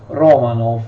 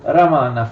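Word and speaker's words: Романов: of Russia in general in Italian we pronounce Romanov But in fact in Russian we say ramana I try to pronounce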